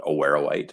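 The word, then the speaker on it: awaruite: our deposit is hosted in a mineral called aware white which you know good on you for the correct pronunciation there andrew and that is a form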